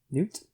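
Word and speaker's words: Nute: uh escaped from captivity spell newt newt yeah n-u-t-e like the lizard where's that was spelled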